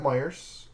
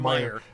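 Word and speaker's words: Meijer: I was at Myers, and is that how you pronounce that store name? Yes. Nope. There's no S. There's no S. Whatever, it's Meyer.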